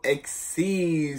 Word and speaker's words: XYZ: video on how to XC summon today so or XYZ summon doesn't really matter how you say it I say exceeds because I like exceeds mix makes it sound kind of cool I don't know so